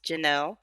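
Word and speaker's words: Ge'NeL: i own janelle magazine which is uh gnl pronounced janelle magazine standing for geeky nerdy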